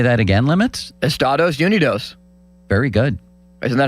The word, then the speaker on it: Estados Unidos: It's our country is pronounced Estados Unidos in Spanish-speaking countries. Is it? Yeah. Can you say that again, Limits? Estados Unidos.